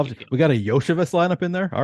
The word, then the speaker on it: Iosivas: I had never heard of him before doing those shows, but that's where I learned Andre Yoshevich. Yeah, it is spelled Iosivas.